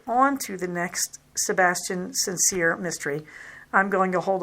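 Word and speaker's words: St. Cyr: about i mentioned the sebastian saintsir that's how an american would say it i suspect it's meant to be sebastian sincere but it is spelled his last name is spelled the abbreviation for saint or street s t period and then capital c y r these are kind of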